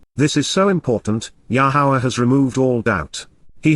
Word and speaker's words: Yahowah: message with authority reveals foretells and predicts yahua yahuwah the proper pronunciation of yahuwah our lower God as directed